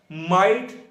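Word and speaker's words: might: Word के दरमियान में, अगर किसी वर्ड के दरमियान में GH इकट्ठा आ जाए तो उनकी आवाज नहीं आती, वो साइलेंट हो जाते, साकन हो जाते हैं। इसकी एग्जांपल है जैसे कि ब्राइट होता है, लाइट होता है, माइट।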